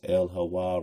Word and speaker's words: El-Hawa: If one attempts to pronounce El-Hawa rapidly with accent on the final wa and not on the initial ha, one readily recognizes how the H of Hawa can be slurred into Elawa.